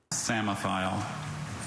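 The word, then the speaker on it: psammophile: Samophile. P-S-A-M-O-P-H-I-L-E, Samophile? That is correct. Oh, the disbelief, the tears, the confetti. I'm here for it all. Deb did not let that silent P get him either, which would totally have gotten me.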